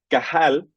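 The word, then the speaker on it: qahal: palabra en en hebreo que es cajal que es se escribe q a h a L lo repito una vez más qahl cajal se traduce como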